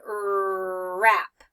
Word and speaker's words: wrap: wrap a birthday gift I don't say what wrap right I just start with the are sound rap okay and so this makes